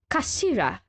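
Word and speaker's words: 頭: up the damn sword it's written as head in Japanese but it's pronounced as Kashira I believe Kira so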